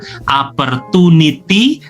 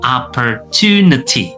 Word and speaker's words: opportunity: Jadi bukan opportunity tetapi opportunity.